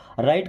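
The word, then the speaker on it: write: मतलब होता है लिखो यहां पे डब्लू साइलेंट है ना राइट का मतलब लिखो इट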